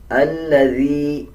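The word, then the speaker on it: الذي: अल्लज़ी ज़ाल को नरम पढ़ा जाएगा।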